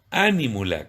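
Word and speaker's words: anímula: Ánímula, con acento en la A, como esdrújula, ánímula.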